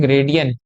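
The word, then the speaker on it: gradian: पर ग्रेडियंट इसकी स्पेलिंग होती है ग्रेडियन। जी आर ए डी आई एन ग्रेडियन या इसे फ्रेंच सिस्टम भी कहते हैं।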